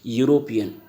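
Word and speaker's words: European: तो इसका sound of cons, ये क्या है, इसको बोलते वक्त क्या हो रहा है, यूरोपियन, यू, रोपियन।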